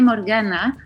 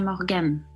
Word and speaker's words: Morgane: En Chile suelen llamarme Morgana, debe ser como más fácil por el acento, la entonación, pero mi nombre se pronuncia Morgane.